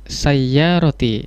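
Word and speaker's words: سيارتي: Hazihi sayyarati. Iya, alhamdulillah ya. Ya-nya ada tasdidnya, sayyarati, dan betul.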